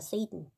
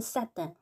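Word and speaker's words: Satan: 세이든 발음은 세이든 프랑스어로는 사단 이렇게 발음합니다.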